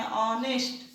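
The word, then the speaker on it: honest: ऑनेस्ट देखिए शुरू एच से हो रहा है, लेकिन उच्चारण यदि हम इसका लिखेंगे तो ऐसे लिखेंगे ऑनेस्ट, यानी यहाँ आ रहा है। आ किसके अंदर है, स्वर वर्ण के अंदर है, इसलिए हम लोग यहाँ पर एन लगाएंगे।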